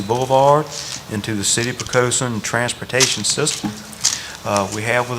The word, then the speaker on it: Poquoson: This includes several roads, Big Woods Drive, Waterman's Way, Poquoson Path, I guess I should say, properly pronounced.